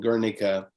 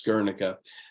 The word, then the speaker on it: Guernica: Guernica is the Basque pronunciation and spelling. Otherwise, in Spanish, it's called Guernica, and that's what the rest of the world knows it as Guernica.